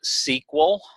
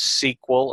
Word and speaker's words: SQL: while we're here SQL some people you will hear it pronounced sequel from time to time that's the same thing esque well some people